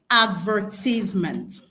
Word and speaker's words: advertisement: We are still looking at the We are still looking at the option with the correct stress syllable. And here we have advertisement.